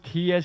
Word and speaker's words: tear: And please, ladies and gentlemen, it's the same word. If you pronounce tear, it means you're crying, okay? And we don't lose tears here. This is tear, just the same spelling, different pronunciation. This is tear out, not tear out.